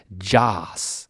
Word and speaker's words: Jas: It's Jas, like short for Jason, maybe. But the way that he says his name is like Joss.